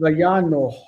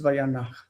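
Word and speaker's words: וַיָּנַח: Vayanoch, Yeah, that's how I wanted to read it. but the chet overpowers that because it's a guttural and it's Vayanach, and he rested.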